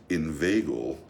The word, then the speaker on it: inveigle: Say inveigh, nay, but inveigle. Don't make the latter rhyme with eagle.